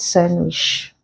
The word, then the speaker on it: sandwich: handsome so in these words we do not pronounce the d in them I put Soldier there right sandwich these words contain silent D we say they